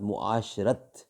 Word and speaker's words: معاشرت: ازواج مطہرات کے ساتھ معاشرت۔ ناظرین، پہلے ویلاگ میں شاید غلطی سے کچھ اور لفظ کا تلفظ صحیح نہیں تھا، لیکن ایگزیکٹ لفظ ہے معاشرت۔ شکل و شبہات۔ حضرت